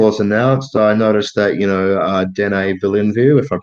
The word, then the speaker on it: Denis Villeneuve: And just for information, it's Denis Villeneuve. Yeah, well, like any French pronunciation, Matthew always has to go to use that.